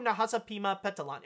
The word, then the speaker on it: Nahasapeemapetilon: name right that's how you say a poo Nahasapeemapetilon okay yeah I got it I got it